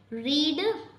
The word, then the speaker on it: read: रीड means पढ़ना, सो हम pronounce तो रेड करेंगे, लेकिन हम इसको रीड ही लिखेंगे और प्रोनाउंस रेड करेंगे।